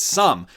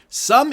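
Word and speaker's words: Xumm: 3 uh of some i keep calling it zoom but it's sum sum is how it's pronounced it is available now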